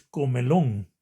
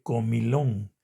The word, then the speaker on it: comilón: Por ejemplo, decimos comelón. En lugar de comilón. La palabra es comilón. En lugar de e le vamos a poner una i y se dice comilón.